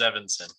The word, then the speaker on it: Evanson: thank you yep and you're pronouncing it right it is evanson okay thank you mr